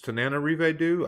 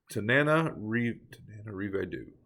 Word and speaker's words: Tananarive Due: It's Tananarive Due. I may be wrong with the pronunciation, but there's an extra na in there that I normally want to give it. So Tananarive Due, right?